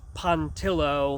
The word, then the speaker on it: Pontillo: It's me, Pontillo. That's Pontillo. Oh, quit being Really gotta work pretentious, on that.